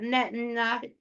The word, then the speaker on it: Netanyahu: And he agrees about Netanyahu.